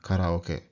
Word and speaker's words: karaoke: And karaoke. Here, there's an AO, but you should split this into 4 syllables, right? Ka-ra-o-ke. Karaoke.